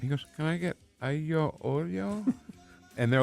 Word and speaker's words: aglio olio: pronounced aglio olio.